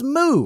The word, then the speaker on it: Mu: on our planet, and that continent's name is Mu, or Mew, depending on how you want to pronounce it.